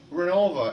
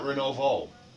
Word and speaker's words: Renovo: John, why is it pronounced Renova and not Renovo? I don't know. It's easier to say Renova than Well, saying Renovo's Renovo. kind of, yeah, Renovo In sounds fact, some kinda- people even spell it wrong. Once in a while, you'll see it in print. An A at the end. With an A on the end. Right. But they always say Renova.